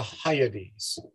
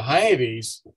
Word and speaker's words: Hyades: so much farther and uh it's called the hyades i'll spell that h-y-a-d-e-s so the hiatus is a very old cluster i do not